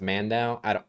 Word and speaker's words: Mando: This almost certainly stems from the portrayal of the character Voss by Michael Mando, his name is, correct? The actor? Yeah. I think it's pronounced Mandau.